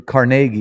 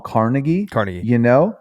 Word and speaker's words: Carnegie: A lot of people, I think a lot of people call him Carnegie. But depends on where you live at. Yeah, but I believe the appropriate pronunciation is Carnegie. It is Carnegie. Right? Yep. Because he's Scottish.